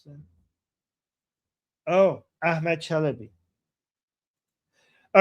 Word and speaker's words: Chalabi: Oh, Chelaby who betrayed the US is a reason many Americans are gunshy. Wait, did you mispronounce that? Oh, Ahmed Chalabi.